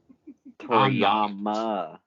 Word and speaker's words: Toriyama: You said it wrong again. God damn it. Don't disrespect the good goddamn name of Akira Toriyama, sir. Toriyama. See? Say it with me, Shane.